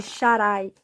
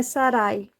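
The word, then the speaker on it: שרי: mudou o nome de Sharai. conhecida por Sarai. Mas não é Sarai, porque a primeira letra do nome dela é um Shin. E o Shin tem som de SH.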